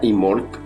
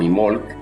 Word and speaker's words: Imbolc: En primer lugar, Imbolc se pronuncia Imolc, ¿sí? O Imolc, es una festividad celta